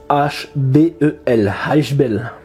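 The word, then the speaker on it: Ishbel: Alors ça s'écrit I-S-H-B-E-L, Hashbel.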